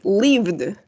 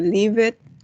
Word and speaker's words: lived: No vamos a decir live it, work it, no. Vamos a decir worked. Yes. Esto va a sonar como una T. Worked. Y en este caso va a sonar como una D.